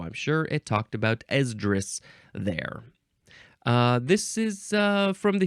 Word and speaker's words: Esdras: Esdras, that's how you pronounce it. Esdras, with a capital E.